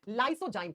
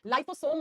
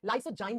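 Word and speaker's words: lysozyme: कौन सा enzyme? लाइसोजाइम। लाइसोसोम मत कर देना इसे। लाइसोजाइम बोलते हैं।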